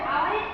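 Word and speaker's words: hour: দেখো আওয়ারের এইচটা কিন্তু কনসোনেন্ট, কিন্তু উচ্চারণটা কি হচ্ছে? আওয়ার, এর মতো উচ্চারণ হচ্ছে, যে কারণে আমরা কি ইউজ করছি?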